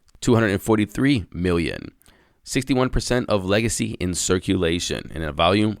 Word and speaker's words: LGCY: today is legacy network it's actually spelled lgcy its ticker is lgcy but it's pronounced legacy as you see why